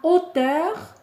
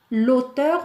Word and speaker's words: hauteur: La hauteur, ça s'écrit avec H-A-U-T-E-U-R. On ne dit pas l'auteur, on dit la hauteur. Donc c'est un H aspiré.